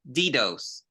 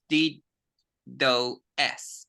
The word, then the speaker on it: DoS: no dos dos dos also some people pronounce D do s it's okay both of them all right